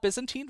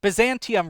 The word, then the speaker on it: Byzantium: So this is Byzantine Rose. So I miss Byzantium Rose. Excuse me, I accidentally mispronounced her name.